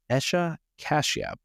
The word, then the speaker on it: Esha Kashyap: Bitcoin and freedom today I am joined by Asha cashia Asha am I pronouncing your name correctly yes you are Adam